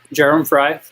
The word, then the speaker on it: Jerem Fry: His name is Jerem Fry. Am I saying it right? Yeah, Jerem Fry.